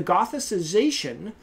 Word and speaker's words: gothicization: Her conclusion is that the transformation of Christmas into Halloween is the gothicization. Easy for me to say, huh? Gothicization? That's better, right? I was giving it a soft C in there.